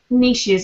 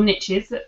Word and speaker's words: niche: Ed is that right am I supposed to be saying Niche it's niche in America and it's niche over here you've got two specialisms